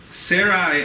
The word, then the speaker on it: Sarai: says Sarai Abrams wife I know it was Sarah and Abraham but so barely so Sarai Abrams wife had born